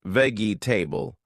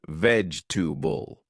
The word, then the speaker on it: vegetable: not comfortable but comfortable vegetable not veggie table but vegetable to improve John borrowed